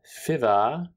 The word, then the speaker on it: Fivaz: the name of bill fiva who i always call bill favaz and i'm sorry i've been mispronouncing his name this entire time but um you